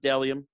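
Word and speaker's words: Bdelliom: it's it's pronounced stellium i know it's spelled b-d-e-l-l-i-o-m but it's pronounced dellium um it's a men's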